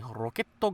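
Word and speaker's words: ロケット: Like whenever they see Team Rocket, you never hear them say Rocket Gang. You hear them say Roketto Gang. And I just love how they pronounce it like that.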